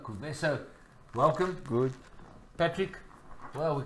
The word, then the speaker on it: Kuvesa: Let me pronounce it properly. Kuvesa.